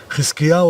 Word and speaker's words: חזקיהו: Agora, observe o mesmo nome de Ezequias sendo pronunciado no hebraico legítimo dentro de Israel entre judeus. O link destes vídeos estão no primeiro comentário fixo. חזקיהו עולה לשלטון בשליש.